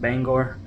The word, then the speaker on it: Bangor: using localizer Runway 33 in Bangor main it's pronounced Bangor I looked it up there's extensive pronunciation videos